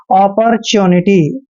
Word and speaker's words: opportunity: च्योनिटी, देखिए च्योनिटी, आपने ट्यूनिटी नहीं पढ़ना है, च्योनिटी पढ़ना है। अपॉर्चुनिटी, अपॉर्चुनिटी होता है दोस्तों अवसर मौका, ठीक है ना, ये इसको हम अपॉर्चुनिटी बोलते हैं।